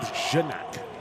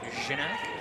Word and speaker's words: Ganack: I think we're going with Janak. Ganack? Yeah, it's the old JG thing. Soft G.